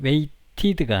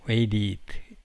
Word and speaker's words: waited: lived와 in이 결합하면 lived in, waited와 outside가 결합하면 이 waited가 아니고 waited 이렇게 발음해야죠.